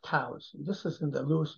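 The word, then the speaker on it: cous: fat saddle of Venison and a mush of Coos cows I should say it's cows it's pronounced cows this is in the Lewis and Clark collection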